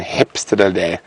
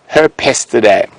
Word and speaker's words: Herpestidae: the dwarf mongoose is oh, my pronunciation, hepstadidae. My pronunciation might be completely off, but no, not directly related to weasels, James. Now, I've actually seen Herpestidae. There we go. Herpestidae.